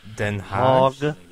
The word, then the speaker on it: Den Haag: Well, technically, it's Den Haag. Haag.